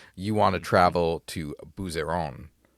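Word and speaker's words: Bouzeron: bottle of aligote, you want to travel to Buseron. Oh, that's correct. Well done. And I pronounced it right.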